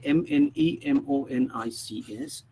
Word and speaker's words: mnemonics: Okay, M is silent. That's why, though we write Mnemonics, okay, you'll see that we normally pronounce it as mnemonics.